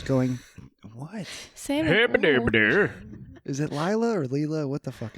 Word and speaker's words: Lila: It's Lila.